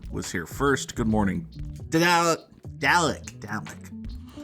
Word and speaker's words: Dalek: Good morning, Dalek. It's like Dalek Baldwin. That's how you have to remember how to pronounce the recurring villain in Doctor Who.